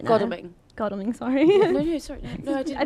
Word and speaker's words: Godalming: in Goldingham and Ash are saying that seat is too close to call right now. Godalming.